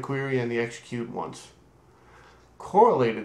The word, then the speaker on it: correlated: and the execute once correlated subqueries or depending on how you pronounce it co-related subqueries um make use of